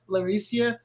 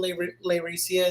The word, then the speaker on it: Layrecia: to call you later laricia I used to emphasize the lay so much that I thought I was saying it wrong but she was saying it right and then what then